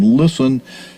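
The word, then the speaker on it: Lisson: from listen himself his last name listen is pronounced like listening but is spelled l i double s o n i listen and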